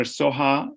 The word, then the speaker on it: Soha: Soha is S-O-H-A.